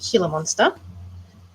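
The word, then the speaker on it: Gila monster: So, I recently have done a veiled chameleon and then I did a um I've been told it's pronounced healer monster.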